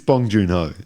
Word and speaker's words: Bong Joon-ho: It's Bong Joon-ho.